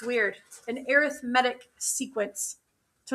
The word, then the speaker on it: arithmetic: Um, but when we're talking about sequences, which we'll talk about in a second, then we say arithmetic. It's weird. An arithmetic sequence. So, it's weird that it's pronounced different.